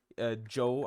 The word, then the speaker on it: Djo: Joe, I'm pretty sure that's how you pronounce the Spotify name. DJO is like the spelling of it.